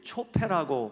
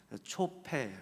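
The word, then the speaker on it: צֹפֶה: 자, 그림을 하나 보시면 히브리어로는 이게 초폐라고 발음하는데 예, 히브리어는 오른쪽에서부터 왼쪽으로 읽습니다. 거꾸로 초폐예요.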